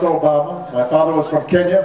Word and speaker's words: Obama: And they call me Alabama. Or they call me Yo Mama. And I'd have to explain, no, it's Obama.